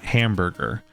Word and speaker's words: hamburger: useful is like like in the word hamburger there's three vowels in that and we spell it with a u with an a in the first syllable a u in the second syllable and an e in the third syllable but it's just hamburger and the the the the second the second two vowels that are not stressed are just like uh hamburger makes sense